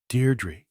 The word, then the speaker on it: Deirdre: Deirdre! Her heart gave a leap, and then stood still. Only one person had ever spoken her name like that, with the faint stress on the first syllable that made of it a caress.